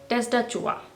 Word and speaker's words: tastatur: Keyboard को कहा जाता है टेस्टा चूआ। टेस्टा चूहा। ये बीच वाला जो टी है इसको आपको डी की तरह प्रोनाउंस करना है।